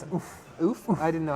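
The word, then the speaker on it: Ouphe: It's pronounced oof, like you got kicked. oof. Oof. Not hoof. That's the sound you make when a horse kicks you.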